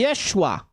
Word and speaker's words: Yeshua: entre os cristãos judeus o nome de Jesus provavelmente era pronunciada e Yeshua ou e o título